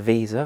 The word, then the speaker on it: VESA: of the tv now this is normally referred to as a visa or vesa fitting depending on how you pronounce it but essentially so we'll